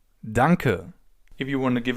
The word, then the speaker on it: danke: In German, the simplest way to say thank you is to say danker. Dunker.